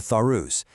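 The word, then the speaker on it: Tharus: Recently, the Lucknau bench of the Alabahad High Court had to step in for the Thorus. That's pronounced t h a r u s a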